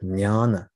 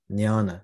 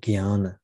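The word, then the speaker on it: jnana: I was more attracted to the path of nyana nyana which is spelled j n-a-n-a sometimes people pronounce it Guiana which is an alternative pronunciation the part of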